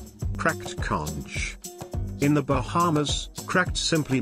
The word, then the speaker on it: conch: Conch salad. Conch salad, pronounced conch, is a staple of the Bahamian diet.